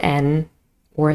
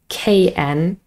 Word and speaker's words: know: spelling is N, double N, or sometimes KN, but the K is silent. So the sound is just We don't say kn, no, just You know that,